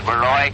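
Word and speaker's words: Borowy: The cab driver that I came out here with insisted on calling Baroy Baroy, and I told him no, that the name properly pronounced was Baroy.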